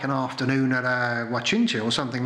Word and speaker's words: guachinche: There are, in fact, there is a Facebook page that talks about guachinches, but it's not spelt, that is spelt, I'll tell you, G-U-A-C-H-I-N-C-H-E, guachinche.